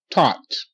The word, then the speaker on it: taught: Tot. T. Ah. Tot. Tot. GH is silent. GH makes no sound. Okay, but you see the AU? The AU say ah. Okay, the same sound as the AW make.